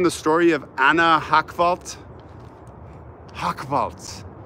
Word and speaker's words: Hochwald: Hochwald. Yes, I pronounced it right. It's German. I'm German.